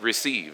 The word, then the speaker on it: receive: It's receive. It's 2 syllables.